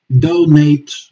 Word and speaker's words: donate: Donate and donate. Yes, shifting the accent in the syllable, or laboratory and laboratory.